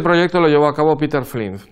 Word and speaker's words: Peter Flint: Bien, este proyecto lo llevó a cabo Peter Flint. Peter Flint, o mejor dicho, Peter Flint, porque es danés, no se pronuncia Peter, sino Peter.